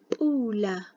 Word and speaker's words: pula: As if you're popping something, like pula, pula, which means rain. Just like the way you pronounce P in English, like how, okay, just it's the same way it's the same way like how you would say a P in English within a word.